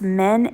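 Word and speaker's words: Minh: then these are the I think it's pronounced men m-i-n-h the egg rolls from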